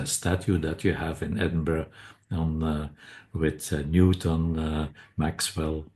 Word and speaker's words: Edinburgh: and you you pronounce Edinburgh very Well, that's that's I learned it. Yeah. Many many people struggle with Edinburg is is quite typical. That's wrong. Edinburgh is a very European focused uh city.